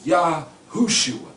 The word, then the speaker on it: Yahushua: I'm telling you, that name, where you see Yehoshua, that is Yahushua. That is the correct Hebrew or Hebraic pronunciation for his name.